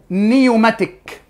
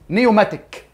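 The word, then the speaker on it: pneumatic: نوع رقم خمسه اسمه نيوماتيك والنيوماتيك البي السايلنت ما تنطقها بنب بنبدا على طول النطق من اول ال ان يعني البي سايلنت نيوماتيك وهذا العظم النيوماتيك ببساطه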